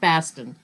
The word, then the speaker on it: Boston: Baston, by the way, is pronounced Baston, not Boston.